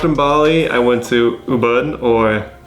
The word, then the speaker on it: Ubud: Bali, I went to Ubud, or I think that's pronounced like U-B-U-D. Ubud.